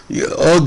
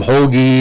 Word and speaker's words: Hogue: the announcer nuts because he couldn't ugg is a is not a perfect pronunciation in english and he was calling him hoagie and hogue and all that he